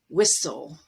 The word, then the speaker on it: whistle: And at the end of a word, if you have S-T-L-E, T is always dropped. Castle, whistle, wrestle, hustle.